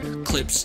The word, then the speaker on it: Clypse: as I mentioned earlier, Clips, but it's spelled CLYPSE, Clips Hernandez.